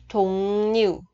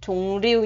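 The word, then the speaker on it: 종류: Chỗ này cũng có quy tắc phát âm, patim là chữ ng, theo sau nó là phụ âm ri. Thì cái ri này mình sẽ đọc là n. Thùng nhiều, không đọc là thùng riêu nha các bạn.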